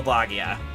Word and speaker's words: Bagia: No, you're you're pronouncing correctly. It is pronounced Bagia.